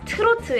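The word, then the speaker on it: 트로트: now what is trot trot pronounced as turtu in korean sometimes even called bonchak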